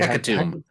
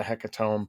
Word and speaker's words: Hecatomb: How do you say Hecatomb? Hecatomb? It's gotta be Tomb.